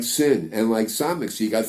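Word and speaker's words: שין: the left one then the dot makes it into a sin SM so shin and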